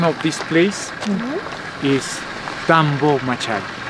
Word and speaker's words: Tambomachay: is Tambomachay. Tambomachay. But the real name is Tampu. Tambomachay. One more time, the Spanish they couldn't to pronounce correctly.